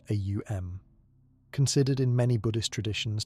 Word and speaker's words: Om: One of the most accessible is the sound om pronounced a u m considered in many Buddhist traditions to represent the fundamental vibration of consciousness.